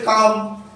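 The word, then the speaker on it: calm: তাহলে এখানেও এল কাম এর উচ্চারণ করব আমরা, কারণ এল এর উচ্চারণ হচ্ছে না।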